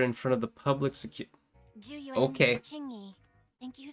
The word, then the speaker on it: Zhu Yuan: Okay, Zhu Yuan and Qingyi. Okay, so that's how you pronounce it.